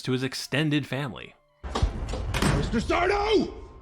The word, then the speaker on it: Sardo: Sardo! That's Sardo. No, mister. Accent on the dough.